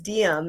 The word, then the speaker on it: Diem: to correct you, but the pronunciation is Diem. And so, like, to help people remember my name, I'll often say, like, Carpe Diem, which means like seize the day in Latin.